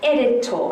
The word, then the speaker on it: editor: I'm an editor. I'm one who edits. Now remember the O sound at the end of these words is a schwa.